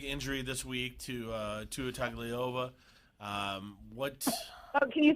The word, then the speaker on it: Tagovailoa: It's Tua Tagovailoa. Tagovailoa.